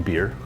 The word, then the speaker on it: Bier: Ein Bier. That's how they say it? Beer? Yeah. Oh, it's B-I-E-R. Yeah, it's beer.